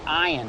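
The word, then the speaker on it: עין: It's kind of like that, but it's pronounced ayin, and it means eye.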